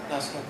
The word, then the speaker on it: Nausicaa: Miyazaki screwed up Ghibli, so they pronounced it Ghibli. And Nausicaa is the way you did say it. All right, Nausicaa.